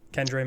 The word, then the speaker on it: Kendre: We got, I don't know if it was Kendra or Kendre. I always forget how you pronounce it. Kendre Miller, yeah.